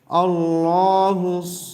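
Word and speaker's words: الله: আল্লাহুস সামাদ। আল্লাহ। এখানে আল্লাহ উচ্চারণ হবে।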